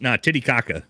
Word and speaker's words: Titicaca: Pachuca, that's how it's pronounced. Titicaca is how it's pronounced.